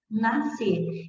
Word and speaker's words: nascer: vai ser a mesma nascer então isso quer dizer que a letra s existe na palavra nascer mas não é pronunciada então é se e